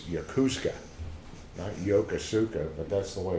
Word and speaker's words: Yokosuka: used it in 1940 something it's yoku Scott Yokosuka but that's the way it's pronounced can you move hello Poston speaking of